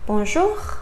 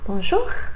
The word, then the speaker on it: bonjour: And then we have O and U together, sounds oo. For example, bonjour. You don't say bonjour, right? Please don't say that. Say bonjour.